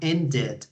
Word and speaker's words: ended: places okay very good in this case end ends in the D sound so we have to add an extra syllable which is the E D sound ended okay very good job